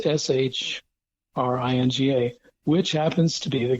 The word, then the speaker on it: Syringa: Now, confusingly, Philadelphus coronarius is sometimes called Syringa, usually pronounced Shringa, which happens to be the common name for lilacs.